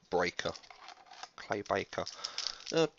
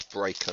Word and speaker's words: Claybreaker: Claybaker. Sounds better, but no, it's Breaker, not Baker.